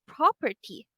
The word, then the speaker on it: property: And the word property has the stress syllable on the first one.